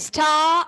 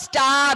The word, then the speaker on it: star: The Star and the Moon. And my dear, it's not star. Ra is silent.